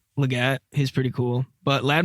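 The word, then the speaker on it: Legette: Also, I've heard it Xavier Leggett. And when I was watching NFL Network today, it's Leggett.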